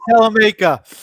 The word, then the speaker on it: Salamanca: Salamanca.